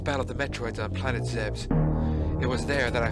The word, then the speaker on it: Zebes: cutscene and land on Planet Zebes or zabis however you want to pronounce I pronounced zebes cuz it just seems right to pay that way so I I did